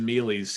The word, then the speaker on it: Mealy: Well, I mean, I actually know a bunch of Mealies here in my area. I know them from some families with that last name, and that's how they say it. I mean, I don't know, maybe from Italy they might pronounce it a little differently, but here they say Mealy, so I don't know.